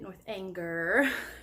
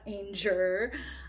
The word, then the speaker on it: Northanger: Next, I read Northanger Abbey, which is how you say it, Northanger, not Anger, by Jane Austen.